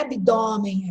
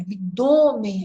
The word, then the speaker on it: abdômen: Túnel, hífen, abdômen, não é abdômen, abdômen, é fechado.